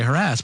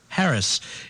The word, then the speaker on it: harass: Paul telling me that the correct way to pronounce these words, like harass. Most people say harass, but Paul told you the true way to say the word. Harris.